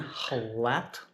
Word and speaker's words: Jalatlaco: It's in Tlatelolco, I think is how you say the name of the district or neighborhood.